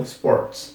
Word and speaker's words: Sports: bem tranquila Sports só Cuidado que o s aqui não tem o e no começo né então Sports então vocês vão ver